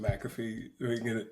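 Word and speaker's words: McCaffrey: don't Junior hold on pronounced McAfee get that out it's all right Ma say it again McAfee what what say you said Ma you put r i put R in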